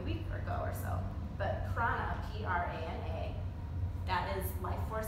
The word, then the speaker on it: prana: But prana, P-R-A-N-A, that is life force energy, which some of you might have heard of.